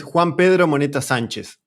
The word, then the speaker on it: Juan Pedro Monetta Sanchez: The whole one is Juan Pedro Monetta Sanchez. That is how we pronounce it here.